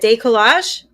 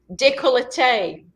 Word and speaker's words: décolleté: Décollage? Décolleté.